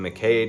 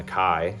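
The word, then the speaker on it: MacKaye: check out fugazi anything Ian McKay did uh Ian McKai sorry I got to pronounce that correctly um is worth your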